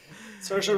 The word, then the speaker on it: Saoirse: Saoirse rhymes with inertia.